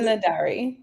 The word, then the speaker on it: Nedhari: Or Nadari. Let me get it right. Tell me what it is. It's Nedhari.